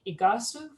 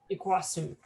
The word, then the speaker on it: Iguaçu: And from Brazil, we have Carmel Croukamp, who is the CEO of Parque, located in, I'm going to say it wrong, Iguaçu? Iguaçu.